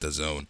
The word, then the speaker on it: DAZN: It's pronounced DAZN.